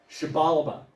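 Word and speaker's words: Xibalba: that in in Maya the x is pronounced with an S habalaba and it's much more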